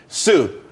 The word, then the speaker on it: Tsu: there's more money and everyone could be happy tsu it's pronounced sue though that's that's a website dot co dot